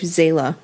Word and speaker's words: Zeyla: Our story centres around a man called Sir Alexander Hay Seton and his wife Zayla, which is spelt Zeyla.